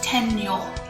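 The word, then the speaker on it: 天女: like the green fairy it's in Chinese it's Tien new which literally means heaven and woman and in Japanese we're pronunciation is tenure you can see that it is the same word it's just in Japanese pronunciation instead this is really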